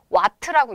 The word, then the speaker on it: 와트: 지금 W라고 써드리기는 했지만 숫자 뒤에 나와 있는 이 W는 워크 2를 얘기하는 게 아니에요. 단위죠, 단위. 그치? 읽을 때는 와트라고 읽습니다.